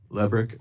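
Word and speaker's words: Lebryk: And um I believe you were approached by the highest ranking career official at Treasury, David Lebrick. Is am I pronouncing his name correctly? I believe it's Lick. Leick.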